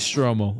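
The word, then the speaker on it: Stromile: Let me look out how to pronounce that before I look stupid. It is Stromel.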